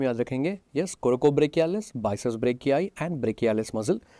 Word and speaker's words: brachii: Biceps ब्रेकियाई muscle, spelling थोड़ा ध्यान से लिखना, वहाँ पर BRACHII, ब्रेकियाई मसल। बहुत सारे स्टूडेंट्स ऑफलाइन क्लासेस में अपनी मर्जी से वहाँ पर ब्रेकियालिस लिख लेते हैं। ब्रेकियालिस नहीं है, ब्रेकियाई है, बाइसेप्स ब्रेकियाई।